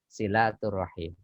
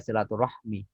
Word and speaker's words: silaturahim: Tidak apalah kemudian, tetapi yang benar dalam kosakata bahasa Arab, yang benar adalah silaturahim. Tidak ada itu rumusnya silaturahmi di dalam bahasa Arab.